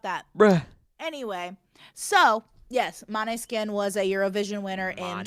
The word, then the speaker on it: Måneskin: Maneskin? It's Måneskin.